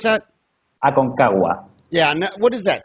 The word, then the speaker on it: Aconcagua: How do you pronounce that? Aconcagua.